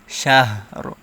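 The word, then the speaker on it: شهر: রটা হালকা উচ্চারণ হবে শাহর।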